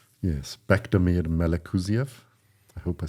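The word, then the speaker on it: Bektemir Melikuziev: Yes, Bekdamir Melekuziev. I hope I said that correctly. Beautiful pronunciation.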